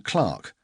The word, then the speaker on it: Clerk: Maxwell's father was originally called John Clark, pronounced to rhyme with Park.